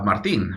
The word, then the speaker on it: Martin: So Martin, right? That's the way my mom pronounced it.